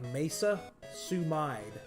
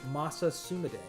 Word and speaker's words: Masa Sumide: It's spelled like Mesa Sumide, and when I was a teenager, that's what I thought his name was. But no, it's Masa Sumide.